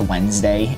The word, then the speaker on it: Wednesday: If you've only seen Wednesday spelt out, you probably don't know it's pronounced Wednesday intuitively.